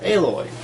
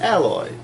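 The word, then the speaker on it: Aloy: is the statue of a loi especially your name's not pronounced alloy you would think with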